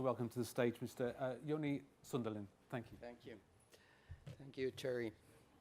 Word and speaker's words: Joni Sundelin: Now we are going to hear from Helsinki Airport and Joni Sundelin, is that how I pronounce it?